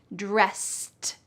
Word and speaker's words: dressed: Notice at the end of the word dressed, it sounds like a t even though it's e d. dressed.